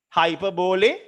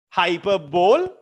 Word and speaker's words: hyperbole: Hyperbole, hyperbole. I have heard some teachers say hyperbole. That's wrong. Hyperbole. It's pronounced hyperbole, not hyperbole, not hyperbole.